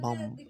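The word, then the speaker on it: bomb: তার মানে এখানে দেখবো কি বি ও এম বম লাস্টের বি এর উচ্চারণ হয় না লাস্টের কি বি উচ্চারণ হয়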